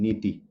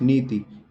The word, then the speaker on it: नीति: एक मात्रा छोटी की नीति देखिए उच्चारण से उच्चारण होगा तो सही वर्तनी होगी नीति ठीक है नीति नी लंबा खीच रहा हल्का सा और ति एकदम वही स्टॉप हो गया तो इसलिए इस पर